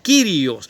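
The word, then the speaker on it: κύριος: siempre en el original en el griego que se escribió la palabra se pronuncia kyrios o sea el señor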